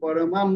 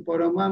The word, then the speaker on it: পরমাং: আর পরমার পরে দেখুন অনুষ্কার আছে, সেজন্য ম উচ্চারণ হবে।